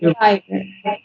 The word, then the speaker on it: empire: It's empire, not empire, but Em- empire. em- Her empire. Her empire in the cosmos she has built. Her empire. The her first, empire. yeah, the accent on the first syllable.